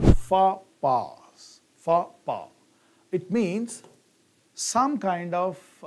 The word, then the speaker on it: faux pas: Look at the pronunciation, fa-pa.